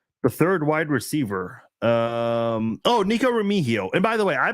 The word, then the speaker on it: Remigio: It's Remigio. Remigio is how you pronounce it.